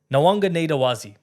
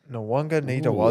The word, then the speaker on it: Nawaqanitawase: I've got the pronunciation here. Nawaqanitawase. Nawaqanitawase. That's pretty good. Nawaqanitawase. Jimmy, have a crack, Jim. Yeah, Mark Nawaqanitawase.